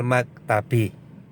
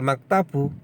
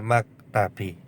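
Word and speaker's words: المكتبِ: Jadi bacanya al-ustadzu bainas sabburati wal maktabi. Bukan bainas sabburati wal maktabu, tidak, tetapi bainas sabburati wal maktabi.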